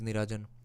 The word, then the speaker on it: Nirajan: Okay, Afin is saying, oh, by the way, Niranjan, I have my name is not Niranjan, my name is Nirajan.